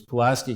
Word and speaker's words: Pulaski: this thing was up these were operating was Pulaski County that's the way you pronounce it and I've contacted the circuit board